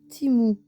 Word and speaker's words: Temu: Ça s'écrit Temu, mais apparemment, dans Google, ça se dit Timou. Donc, vous allez m'entendre dire Timou, Temu, enfin soit.